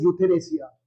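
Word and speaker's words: euthanasia: चलिए next word, last word you have is यूथेनेसिया। यूथेनेसिया क्या मतलब होता है यूथेनेसिया का, ई नहीं पढ़ते इसमें, यू से स्टार्ट होता है, ई साइलेंट रहता है।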